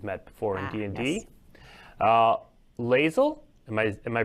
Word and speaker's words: Lae'zel: Lae'zel, am I pronouncing that right? Lae'zel. Lae'zel.